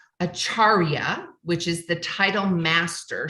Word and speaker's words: Acharya: much to be said for this and it's acharya which is the title Master she's a master